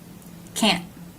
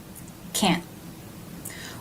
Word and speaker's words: can't: video you learned that the n apostrophe T is pronounced a nasal end sound here in the nose cut very short by a stop te so let's compare the two words can can't can can't what do